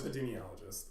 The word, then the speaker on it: epidemiologist: Epidemiologist. Epidemiologist.